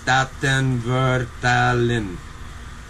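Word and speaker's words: Statenvertaling: The Staten Vertelling Dutch, which is the stage translation, is pronounced Staten Vertelling.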